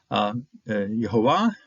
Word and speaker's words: Yehovah: And so I'm quite willing to use the divine name and pronounce it the same way that those particular combined names, Joshua or Yehoshua or Yehoshaphat, how they were pronouncing it. That's how I'm pronouncing it here. I take that pronunciation from the way it's pronounced in certain combined names.